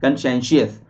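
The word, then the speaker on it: conscientious: TIOUS होता है कंशेंशियस, याद रखिएगा, कंशेंशियस बोलते हैं, सही प्रोनाउंसिएशन होता है कंशेंशियस, ठीक है।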